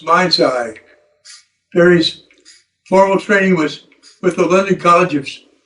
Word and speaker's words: Mind Sci: The clinic name stands for Mind Science. It's pronounced Mind Sci.